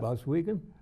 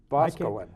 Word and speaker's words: Boscawen: Boswell? Boscawen. I can't pronounce it.